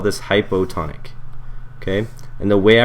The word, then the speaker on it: hypotonic: this we call this hypotonic okay and the way I remember it is the O in hypo rhymes with low so this is the